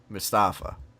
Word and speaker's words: Mustapha: like what's up she's like how do you pronounce his name and I said Mustapha because M UST a PHA and she looks